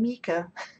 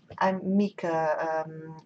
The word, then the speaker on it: Mika: I'm Mika, little phantom. I'm not sure if you knew that, but I'm Mika, written Meeka. Well, that's the way you pronounce it anyway.